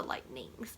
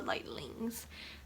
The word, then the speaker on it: Lightlings: And now you're like, Pristine, you pronounced that incorrectly. It's the Lightnings. No, it's the Lightlings.